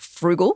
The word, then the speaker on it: Frugl: Yes, there's a great app called Frugal, which is spelled Frugl, and it is